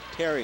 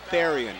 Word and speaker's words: Therian: Therian Therian yep okay I've been mispronouncing I've been saying Terry and it's Therian you pronounce the h 40 to 25 Hazen